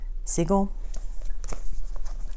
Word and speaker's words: Siegel: Bernie s Siegel that's how you pronounce it some of the stuff I know